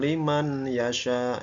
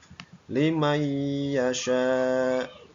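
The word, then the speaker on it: لمن يشاء: dua harakat Lim Yasya bukan Liman Yasya ya itu berarti izhar kalau Li sementara di sini nun mati bertemu dengan huruf ya maka cara membacanya adalah limay Yasya limay Yasya ya seperti itu cara membacanya seolah-olah ada tasdid contoh yang kedua yaitu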